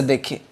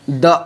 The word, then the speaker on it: the: अब यहाँ पर देखिए, इसको ध्यान दीजिए, द अर्थ या फिर दी अर्थ, क्या पढ़ेंगे इसको, क्या इसका साउंड होगा? तो चूंकि इसका उच्चारण ई से हो रहा है, इसी वजह से इसको हम पढ़ेंगे दी अर्थ।